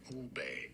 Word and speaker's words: Ube: Ube.